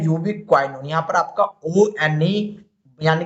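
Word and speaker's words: ubiquinone: तो इसको बोलते हैं यूबीक्वाइनोन, यहाँ पर आपका ONE यानी कि बन लगने वाला है।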